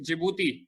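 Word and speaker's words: Djibouti: friends कमा लिया है की हांडी साइलेंट जिबूती बोला जाता है इसको डीसीजीआई जो यूटीआई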